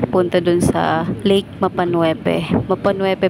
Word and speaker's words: Mapanuepe: doon sa lake mapanuepe mapanuepe pala siya ang tamang pagkabigkas niya ay mapan lumaki po ako sa